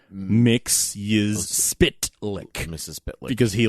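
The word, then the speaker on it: Mxyzptlk: I I cemented in my mind how to pronounce mix spit lick Miss spit lick because he like actually cuz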